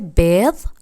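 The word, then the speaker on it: بيض: আমি আবার বলে দিচ্ছি, ডিমকে বলা হয় বেদ আর ঘরকে বলা হয় বেত, বেত। এই দুটো শব্দ উল্টাপাল্টা করিয়েন না।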